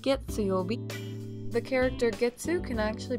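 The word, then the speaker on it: 月曜日: Monday is pronounced getsuyobi.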